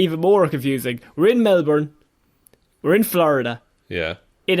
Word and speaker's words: Melbourne: The other one, Connor, is pronounced Melbourne, I'll have you know. Of course, there's no R in it, everyone knows that.